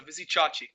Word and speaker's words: Vizicsacsi: Vizicsacsi is what I heard. Vizicsacsi. Vizicsacsi. Like you say A like it's alternate, so Vizicsacsi.